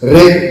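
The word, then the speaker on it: Ré: It's pronounced as Ray, written with an accent on the E, a small typographic mark that does what the brand intends to do, which is catch the light.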